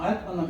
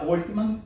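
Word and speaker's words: Altman: Эта компания возглавлялась Илоном Маском и Сэмом Альтманом. Иногда Ольтман читается, иногда Альтман. Вы в литературе можете встретить и то, и другое произношение этой фамилии.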